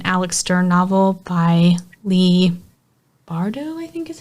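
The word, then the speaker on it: Bardugo: I read Hellbent, which is the second Alex Stern novel by Lee Bardo, I think is how you pronounce her last name.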